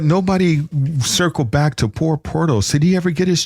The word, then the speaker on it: Porthos: And it's pronounced Porthos. Porthos, not Portos.